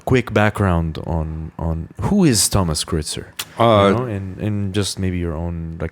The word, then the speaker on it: Thomas Kreuzer: Thomas Kreuzer. Well, thanks for having me. Did I pronounce it correctly? Yes, pretty much. Okay. Yes, that's the international pronunciation of my name.